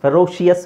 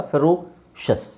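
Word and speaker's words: ferocious: ಆಸ್ಪಿಶಿಯಸ್ ಕಾನ್ಶಿಯಸ್ ಡೆಲಿಶಿಯಸ್ ಫೆರೋಶಿಯಸ್ ಫೆರೋಶಿಯಸ್ ಅಲ್ಲ ಫೆರೋ ಶಸ್ ಪ್ರೊನನ್ಸಿಯೇಶನ್ ಬಗ್ಗೆ ನೀವು ತುಂಬಾ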